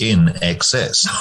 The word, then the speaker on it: INXS: they insisted on putting a sticker on the album cover that said pronounced in excess um because they thought